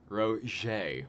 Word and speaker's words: Roget: spelling it right out Roche Roche Roche it sounds like a cake topping we all all we